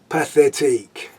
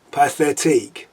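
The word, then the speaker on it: Pathétique: the sixth symphony or pathetique i don't know why it was written by a russian but pronounced as in french but celebi tchaikovsky was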